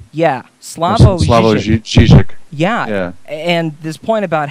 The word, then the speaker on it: Slavoj Žižek: Oh, Slavoj Žižek. Yeah, Slavoj Žižek.